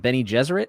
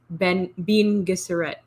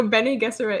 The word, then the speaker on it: Bene Gesserit: The Bene Gesserit, is that how you say that? Is that correct? Yeah, I've been watching Quinn's ideas, and he said it. I always said Bean Gesserit.